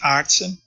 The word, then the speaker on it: Aartsen: this is a pet my family name is pronounced artson so you're really very close